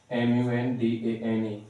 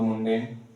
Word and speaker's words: mundane: So is it coming in your mind like mundan or mundane? So both of these words are also not correct because we never pronounce this word as mundane or mundane. This is mundane. Mundane. What do we say? We call it mundane.